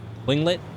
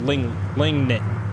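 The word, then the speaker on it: Tlingit: Yeah, the T is silent.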